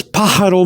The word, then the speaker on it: pájaro: a in that word the a has a little line a slanted line going up that means that when you pronounce the pa or the a sound it should go up like a stress like